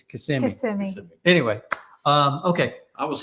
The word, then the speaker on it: Kissimmee: It's not Kissimmee, it's Kissimmee.